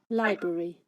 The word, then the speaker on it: library: Some people get a bit muddled up with this pronunciation. Library. Okay, so libraries, the 3 vowels or syllables, the I, library, this here, and then on the end the E, the I and the E.